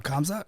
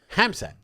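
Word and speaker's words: Khamzat: Is it Hamzat? It's Hamzat? It's Hamzat. Hamzat. Yeah. The K is silent.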